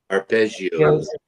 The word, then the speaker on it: arpeggio: It's a ballad uh grand semi classical opening with a prominent piano playing a ar aios. Is that how you pronounce it? Arpezio. Arpeggio.